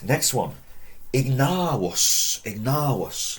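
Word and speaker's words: ignavus: Ignavos. Long A. Ignavos. Remember the V is, we're told, pronounced more of a W. If you want to do it as ignavos, it's fine.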